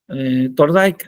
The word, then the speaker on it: Thorndike: Luego de ahí pasamos a ¿cómo se pronuncia? Es que no sé, Thorndike. Thorndike, ajá, sí, Thorndike.